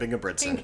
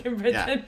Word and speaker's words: Ingebrigtsen: You pronounce his name a bit better, Jakob. Jakob Ingebrigtsen. Ingebrigtsen.